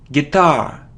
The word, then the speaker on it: guitar: tomato tomahto a tomato so it isn't guitar its guitar guitar so the stress is on the second syllable guitar it isn't easel